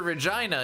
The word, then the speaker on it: Regina: Just remember, Regina is the city that rhymes with fun.